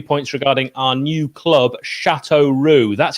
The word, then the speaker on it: Châteauroux: regarding our new club, Châteauroux. That's how you pronounce it, Nick, even though it's spelt differently. So phonetically, that would be SHATOH Roux.